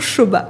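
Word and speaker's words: Sobha: de promoteurs indiens euh shoba déjà je sais même pas si c'est shoba ou stop qu' faut le prononcer mais moi je dis toujours shoba ouais moi c'est mieux je me suis dit je dis shoba parce que sinon personne comprend et généralement quand les gens disent SOA c'est vraiment que tu sens que c'est ils viennent d'arriver à Dubaï ils connaissent pas encore la prononciation c'est ça et du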